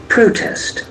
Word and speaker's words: protest: here you can see the accent falls from the first syllable protest protest protest that's PR